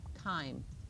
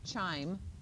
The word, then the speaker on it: chyme: Yep, chyme, not chime. That's what bells do. It's chyme, hard C.